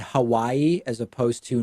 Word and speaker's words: Hawaii: I made an effort to say Nevada and Hawaii as opposed to Nevada and Hawaii and that's it i